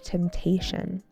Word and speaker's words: temptation: Even when there was no new message, she would unlock her phone and scroll out of temptation. Temptation. temptation with a stress on the second syllable, the t.